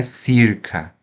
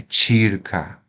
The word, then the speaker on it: circa: significa convento tirca tá então aqui veja não é circa é tirca não é celum ou kum é telum telum tá o d